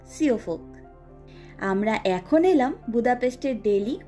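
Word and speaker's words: Siófok: এই জায়গার নামটির স্পেলিং হলো SIOFOK এবং উচ্চারণ হলো সিওফোক।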